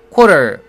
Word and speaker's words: quarter: quarter 발음할 때는 QU 발음을 꼭 해줘야 됩니다. 그래서 core 이렇게 해야 되죠. 많은 학생들이 QU 발음을 core 이렇게 안 하고 줄여가지고 co 이런 식으로 합니다. core 하고 co는 완전히 다른 발음이죠. 귀찮더라도 quarter 하고 QU 발음을 살려주세요.